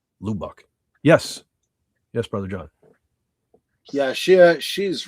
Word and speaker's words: Lubbock: Jason Love says pronounced Lubbock.